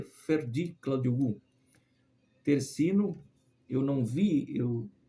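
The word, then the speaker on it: Ferdi Kadıoğlu: seleção da Turquia né o Ferd kadioglu é assim que pronuncia Ferd cladi guu tercino Eu não vi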